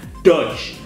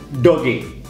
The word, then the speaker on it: Doge: cryptocurrency dan ya Baduy bacanya Doors bukan Doge Doge Doge Doge kita